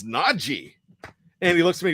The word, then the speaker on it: Najee: That's how he wants it pronounced, not Najee. He wants it Najee. It's not Najee. It's not a Z sound in there.